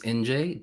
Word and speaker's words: Injae: so okay hi people my name is NJ that's how you pronounce it it's uh if you have trout problems with the pronunciation think New Jersey NJ that's always how I